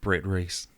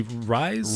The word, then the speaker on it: Ruys: are you y yeah it's like guys oh yeah okay that